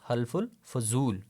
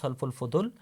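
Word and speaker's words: حلف الفضول: In English you will pronounce that word is हल्फुल फुदुल, whereas in Urdu you will pronounce that word as halful fuzul.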